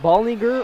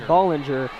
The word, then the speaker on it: Bollinger: number 14 mariah bollinger i wanted to hear if uh he pronounced it ballinger or bollinger and it is bollinger as she said in